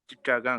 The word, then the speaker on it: Chittagong: How do you pronounce that? Chittagong. Chichagang?